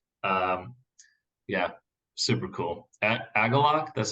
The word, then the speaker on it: Agalloch: really liked it um yeah super cool a aalok that's how you pronounce it aalok yeah I think walking through the forest is